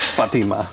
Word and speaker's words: Fatima: Morocco I learned that I've been mispronouncing her name it is Fatima okay yeah Fatima yeah